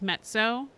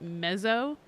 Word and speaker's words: mezzo: people would not know it's mezzo and not mezo, but it just didn't occur to me. But the z's are said like the z's and pizza.